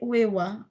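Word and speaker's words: 上: Tetapi kalau yang diperhatikan ya minasang ya, kalau yang ini bacanya satunya uewa, yang no ue dewa ini, kalau yang uewa yang ini bacanya apa minasang? Jo atau ue ini di sini? Di sini bacanya apa? Yang di keempat itu? Bacanya? Jo, di sini. Jowa. Tetapi N, minasang tolong perhatikan ya, ini penting ya. Supaya tidak bingung, Desne. Ini kanjinya sama-sama ue, sama-sama jo.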